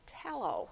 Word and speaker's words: tallow: And after it was all ready to be used for candles, it was called tallow. It rhymes with shallow.